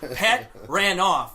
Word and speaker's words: Petranoff: Tom told me, explained to me how to properly say his name, Petranoff.